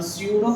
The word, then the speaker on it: pseudo: अच्छा देखो टॉपिक मैंने लिखा है स्यूडो फर्स्ट ऑर्डर, तो इसको आप पसीटो मत बोलना, एक तो इंग्लिश में हम बोलेंगे तो पिसीटो होगा ये, यहाँ पे पी साइलेंट है, तो this is called स्यूडो first order reactions.